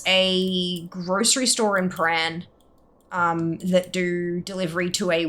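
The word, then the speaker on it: Prahran: I have never heard it pronounced Praran. I've only ever heard it pronounced Paran.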